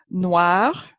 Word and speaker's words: noir: Noir also takes an E when it's feminine, but it's pronounced the same way.